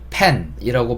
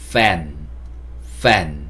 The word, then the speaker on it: fan: 단어 보면요, 선풍기 이것도 펜이라고 제가 적어 놓긴 했지만 펜이라고 발음하는 게 아니고요. F니까 fan 이렇게 발음해 주셔야 돼요.